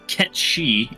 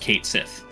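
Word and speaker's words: Cait Sith: and while yes, uh, the cat's name is pronounced Ketchi in actual Gaelic, um, apparently Square Enix has gone on official records saying that in Final Fantasy 7, at least it's pronounced Kate Sith.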